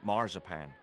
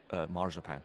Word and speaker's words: marzipan: God, I hate marzipan. You can talk. Marzipan. I mean, you're a talking goat. Keep your voice down. We pronounce it marzipan. This is between you and me, right? In the UK.